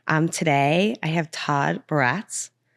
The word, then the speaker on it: Baratz: Um, today I have Todd Barats, which I've never said your last name out loud. Did I nail it? How do you say it? Barretts, but you could say whatever you want.